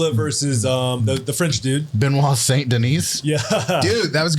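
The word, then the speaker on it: Benoît Saint-Denis: Matt frola and versus um the French dude benois St Denise yeah dude that was a good job you actually pronounced it right wow just because of Chris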